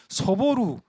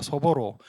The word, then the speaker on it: 소보로: 빵 이름을 소보루 빵으로 소보루 이건 이제 한국식 발음이고 일본식 발음은 소보로입니다. 소보로.